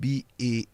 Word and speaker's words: bail: to some people, that when you have two vowels, the first vowel is the master. Yes. The second one is always silent. And it helps you to pronounce the word bail.